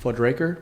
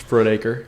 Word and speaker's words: Frudaker: you pronounce her last name. Fudraker? Frudaker. Fudraker? I've heard worse. Frudaker? That's a hamburger joint, ain't it? That's right. Blood puckers? It's Frudaker.